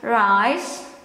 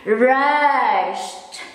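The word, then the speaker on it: rijst: The rice itself, if I pronounce it for daily conversation, I just pronounce it as rice, rice, rice, rice. But the quotes perfect should be rest.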